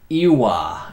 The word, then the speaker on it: Ouya: It's pronounced Ewa.